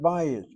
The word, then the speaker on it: bayit: When you say the word bayit, bayit We don't say Bayit. We emphasize our first syllable, short vowel, open syllable, is irregular.